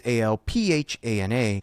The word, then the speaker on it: Alphana: It thinks that we spell it Alfana, but really it's Alphana.